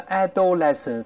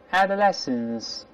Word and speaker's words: adolescence: 遍，注意不要读成 adolescence，它发 ad 的，发轻音的这个声音。我们大声来一遍，adolescence，再来一遍，adolescence，青春期